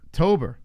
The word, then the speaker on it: Tober: Yeah, how do you say Tabor or Tober? Tober. Okay. Now we know.